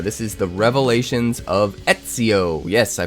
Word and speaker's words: Ezio: This is the Revelations of Ezio. Yes, I pronounced it right this time.